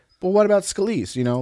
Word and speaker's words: Scalise: good shot okay so Steve Kiska skill sir pronunciation Scalia still Ross Scalise Scalise imagination guides Steve Scalise came out helpful